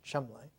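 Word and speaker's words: Cholmondeley: uh chumble Thomas Chand pronounced in English Chum and Chum sent him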